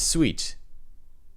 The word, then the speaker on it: suite: Uh, it's a suit. Did I write suit wrong? Test sweet. Yeah. Is it though? Hang on. No, it's sweet.